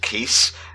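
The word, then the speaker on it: Keese: Just want to give a shout out to Nintendo for once again creating a enemy that sounds like keys, but is actually pronounced keys.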